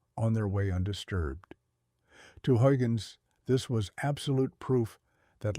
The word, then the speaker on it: Huygens: The Dutch mathematician Christian Huygens, pronounced Christian Huygens, looked at the world and saw vibrations.